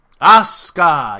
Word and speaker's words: Asuka: taking on the newcomer Asuka, whatever I mispronounced it. Asuka, yes, that's it.